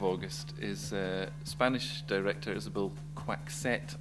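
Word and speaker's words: Coixet: is spanish director isabel quack set i think you pronounce it um in the first of what i hope might be many opportunities to name drop i know how to pronounce her name because i met her in edinburgh last year um well two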